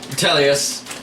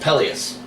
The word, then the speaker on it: Peleus: Telius. Telius. Yes. Telius. T-E-L. Actually, Peleus. P-E-L-O or A-I-O-S. But it's pronounced Peleus. Yeah. I've been pronouncing it wrong this whole time and he just never corrects me.